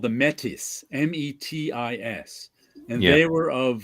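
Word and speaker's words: Métis: want to hear from these medics metis whatever i don't know how to say it in french metis yes it's silent even if it's plural okay yeah it comes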